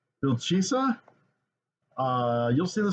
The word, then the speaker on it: Wilczyca: into the movie so this one is called uh seems to be pronounced buildchisa uh you'll see the